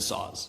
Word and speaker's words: Sauz: We had done too much of that during co and I think Winston just blurted it out and said saws.